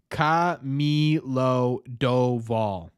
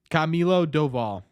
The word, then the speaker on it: Camilo Doval: So Baseball Reference says it's Camilo Doval. Camilo Doval.